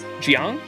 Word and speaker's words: Jiang: Oh, you can also call me Shang, Jiang, or Grand Duke. How do you pronounce the J? Jiang? The following pronunciation.